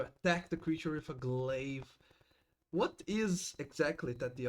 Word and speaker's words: glaive: But it as I'm missing, it just slices off part of them doing minor damage with the galliva or however that's pronounced. Glaive.